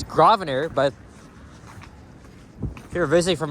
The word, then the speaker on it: Grosvenor: Anyway, the street name here, it's Grosvenor, but if you're visiting from outside the city, you may think that it's pronounced as Grosvenor, but no, the S is silent. Just drop the S, and you'll be fine with it.